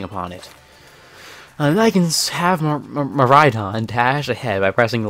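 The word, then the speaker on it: Miraidon: you pronounce the the vowels um okay yeah pronunciation apparently it's maridon or like meon but yeah it's supposed to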